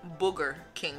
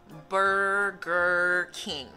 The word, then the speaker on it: Burger King: Él dice Booger King. Booger es como la mucosidad seca que los niños se sacan de la nariz. Estás diciendo rey de mosquitos, ¿no? Entonces no es Booger King, es Burger King.